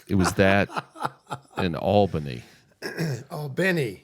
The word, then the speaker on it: Albany: Albany, if you say it properly.